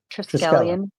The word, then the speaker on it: triskelion: how do you pronounce it? A Triskelion. Triskelion.